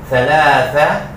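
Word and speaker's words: ثلاثة: Thalatha. Yan. Silent H. Silent T. Thalatha. Mayroong TH. Thalatha. Mayroong TH. Actually, dapat mahaba ang A. Lagyan natin ng isa pang A. Palatandaan, mahaba ang pagbasa ng la. Thalatha.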